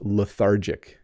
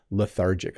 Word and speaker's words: lethargic: a couple more times lethargic it has the th in it makes it a little hard to pronounce for um people learning English but lethargic oh I'm feeling lethargic